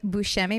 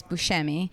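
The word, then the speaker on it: Buscemi: So I think that I call it I say Bushi, but I think I'm wrong. I think that's the Italian way to say it is Bushi, but I think he pronounces it Bkei. Busi.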